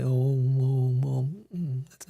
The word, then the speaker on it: Om: Srila Vishwanath Chakravarti says, in the mantra Om, you've heard the mantra Om, right? Well, it consists of 3 syllables, A, U, and Ma.